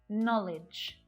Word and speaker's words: knowledge: get started with, but there are several common English words that have a silent letter K. And notice that it always happens before an N. Try these ones out with me. Knife, not, knowledge, knack, knuckle, knob, knit.